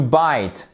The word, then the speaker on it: bite: Souvenez-vous, E muet, consonne I. To bite.